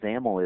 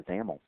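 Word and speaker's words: XAML: is determined by the zaml um by the way zaml X m l is the is the acronym there and that's pronounced with a you know rhyming with camel so let's go ahead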